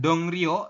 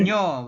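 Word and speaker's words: 동료: Kalau ada iyeng di akhir ketemu dengan real, maka real berubah bunyi menjadi n. Jadi dibacanya bukan dong rio, tapi menjadi dong Ya, No. dong. dongnyo.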